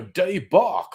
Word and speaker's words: debacle: going on here and basil gets a bit of a day bach as far as i'm concerned so bezel was being even snobbier trying to pronounce it in uh the frenchman no no r abigail d-e-b-a-c-l-e debacle uh although as i